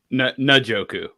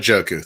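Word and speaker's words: Njoku: not even pronouncing Joker how does it pronounced and najoku not joku thank you I'm starting David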